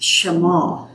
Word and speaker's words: Shema: the radio about what I was calling the Shema. Deuteronomy 6, "Hear, O Israel, the Lord thy God is one." And I was so excited to tell her, and she said, "It's Shema."